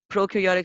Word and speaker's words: prokaryotic: how to pronounce that prokaryotic cells pro pretty basic you know what pro is care yeah tick so prokaryotic only has